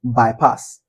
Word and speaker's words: bypass: Then for verb, is um bypass. Bypass. Where do we stress? The pass, right?